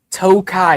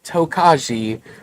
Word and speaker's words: Tokaji: It is spelled with a J in there. It is not Tokaji or Tokajai. J is silent.